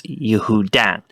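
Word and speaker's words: יהודן: In Hebrew, that word is spelled Yod, He, Vav, Daled, Nun, because in Hebrew it's Yehudan.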